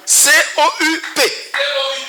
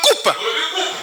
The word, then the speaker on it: coup: Si vous dites cou, C-O-U-P, mais vous dites cou, vous ne dites pas coupe. Le P n'est pas prononcé parce qu'il est en fin de mot.